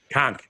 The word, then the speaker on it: conch: It's a conch. Conch. Trust me, I've put enough time down there to know if you say it wrong, they yell at you. You conked it.